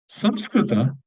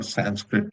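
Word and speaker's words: संस्कृत: Samskrita or Sanskrit, as they say it in English, which is a wrong pronunciation.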